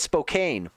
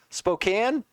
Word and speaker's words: Spokane: Like Spokane like it's spelled Spokane. Like that is how it is spelled. I get why people do it but it's one of those it's just off.